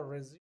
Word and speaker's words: resume: जब ये word noun हो तो इसे हम पढ़ेंगे रिज्यूम है, जब ये वर्ब है तो पढ़ेंगे रिज्यूम।